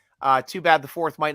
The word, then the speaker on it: To'o: Not the dog in the Wizard of Oz. Not Toto. To'o. Yeah. You got to say it like you got to stutter.